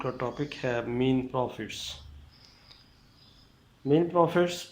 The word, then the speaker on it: mesne profits: Topic ہے مین پروفٹس۔ مین پروفٹس پر اکثر ہم کنفیوز رہتے ہیں کہ اس کے سپیلنگ کے لحاظ سے میسنی پروفٹس پڑھتے ہیں، لیکن نہیں، اس کا صحیح پروننسیشن مین پروفٹس ہے۔ مین پروفٹس کی